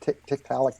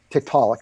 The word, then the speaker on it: Tiktaalik: about the kept Alec is that how you pronounce it Tiktaalik tit for tat see how I do it I never know how to pronounce it but Tiktaalik okay so you know this is supposed to